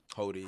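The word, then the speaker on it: Hody: doing that of not carrying hatred for Hottie Jones. Is that how you say his name? Hodi.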